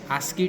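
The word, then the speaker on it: ASCII: name so it is SC text which is pronounced as aski text now I'll use the stat command to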